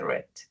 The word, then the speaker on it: read: Y read, que es leer, su pasado queda igual, pero se pronuncia diferente, read.